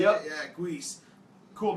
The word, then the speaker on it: Guice: Yeah, Guice.